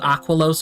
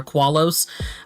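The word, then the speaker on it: Aquallos: By the way, I don't mind if you call it Aqualos or Aqualos. I do not care. Just spell it like Aqua and then LLOS. That's all you gotta do to spell the planet.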